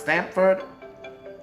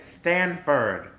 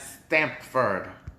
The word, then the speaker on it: Stamford: culture oh is it wait stanford it's pronounced stamford hold on hold on i pronounced it stanford my bad when i said stanford universe um stanford uh connecticut i meant stamford wait wait wait okay so this is